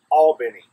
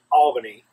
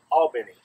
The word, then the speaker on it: Albany: Georgia it's a beautiful place and it's properly pronounced Albany not Albany it's Albany different kind of the thing it's almost like